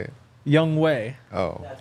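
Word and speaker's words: Younghoe: hu maybe yeah oh how'd you say it young way oh that's how you're actually saying it oh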